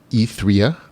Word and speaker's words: Ethria: and after that'll be etherea that's how the author asked me to pronounce it e3o the pioneer an